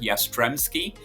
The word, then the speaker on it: Jastrzebski: yeah it's uh not an easy name to pronounce it's yastremski uh originally born in Poland but uh yeah